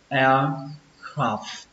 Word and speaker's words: aircraft: Từ tiếp theo, từ này các bạn sẽ đọc là aircraft carrier.